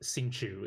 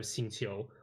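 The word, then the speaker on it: Xingqiu: um it's it's like if someone says like like sinchu instead of xinchio like I'm not really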